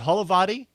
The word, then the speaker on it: Holovaty: Am I pronouncing your... I meant to ask this prior to recording. Is it Holovaty for your last name, Adrian?